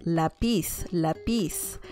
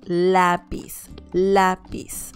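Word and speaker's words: lápiz: letter ah lapis because otherwise it would sound like lapis lapis and that that's not a good intonation so it has to have the accent mark on top of the letter a and it's pronounced lapis lapis okay el lapis remember it's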